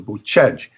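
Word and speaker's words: Bucegi: they call them the buchej it's in english we would say but they they they don't pronounce the i it's like that they will change or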